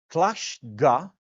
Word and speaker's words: Tlashga: And now I am just coming back from Poland, so I can pronounce this with a Polish accent. Tlashga.